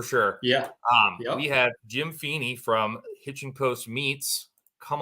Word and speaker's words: Phenes: It's Phenes. Phenes. Oh, You're okay. close. You're All close. right, Close. Yeah. Good enough. Well, my audience isn't shocked. Yeah. Trust me, my whole life it's been getting butchered. I mean, it's a hard last name unless you know how to pronounce it.